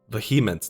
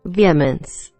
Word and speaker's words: Vehemence: Now, I'm not pronouncing this right because I checked this before. Let me see if you can, let me see, what was it again? Vehemence. Yeah, it's way different. I was way off.